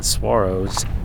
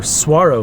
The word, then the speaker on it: saguaro: It's mostly just creosote bushes and saguaros.